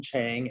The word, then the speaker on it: Chiang: um yeah you can find me at chang md my last name is spelled c-h-i-a-n-g it's the same on all platforms